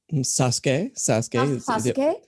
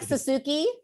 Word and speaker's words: Sasuke: persia sasuke on naruto sasuke well done though better than most people pronounce it so we're like suzuki spooky that's exactly right yeah i think my spanish helps me like at least go sasuke instead of ben on ben